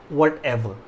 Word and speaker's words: whatever: ठीक है, H silent रहता है। W के बाद अगर H आता है वर्ड में तो H साइलेंट होता है। तो व्हाटसोएवर या व्हाटएवर दोनों का मतलब होता है जो कुछ भी।